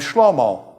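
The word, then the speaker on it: שלמה: Now David has a son named Shelomo. I mean Solomon. His real name is Shelomo, but you guys call him Solomon unfortunately.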